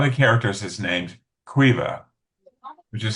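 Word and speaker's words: Caoimhe: Like the combination of M and H is pronounced as a V. And same thing with like B and H. And one of the characters is named qua which is spelled [clears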